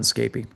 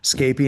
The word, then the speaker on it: Scapy: So that's why we become root to run Scapy. And I do pronounce it differently, Scapy and Scapy. I just go back and forth. Um, the reason why is in the industry, some people call it Scapy, some people call it